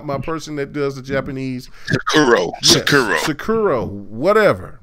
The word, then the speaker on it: Sekiro: What's going on right here is the fact that Sarinko, I think that's how you pronounce it. Sekiro. Yeah, you are my person that does the Japanese. Sakiro. Yes, Sakiro, whatever, right? Sekiro.